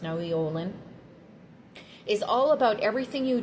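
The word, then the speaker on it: Nahui Ollin: Olin here, or Naui, I think it's pronounced Naui Olin, is all about everything you do has an impact on the universe and the community and the people around yourself.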